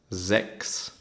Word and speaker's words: sechs: CH and S is pronounced like a X, like a K, KS, sechs.